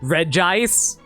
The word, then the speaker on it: Regice: Okay, I know they're all pronounced Reggie Rock, Reggie Steel, and this is called Regice. But why isn't it called Reggie Ice?